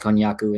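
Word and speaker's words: konjac: a k if I'm not mistaken but it's pronounced kyaku and it's um it's sort of like a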